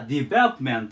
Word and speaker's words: development: で読み方がデベロプメントと言いますデベロンで大事なのは何個かってまずアクセントここにきますベの上デメントていう感じでまず意味行っ